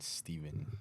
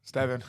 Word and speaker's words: Stevan: And today we're joined by Omar and Steven. Stevan, you know what I mean?